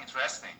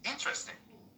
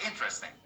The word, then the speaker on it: interesting: And it's okay, it's not interesting, it is interesting. The stress is on the first part. Yeah, interesting.